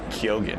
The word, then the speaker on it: Keoghan: No, Kyogen.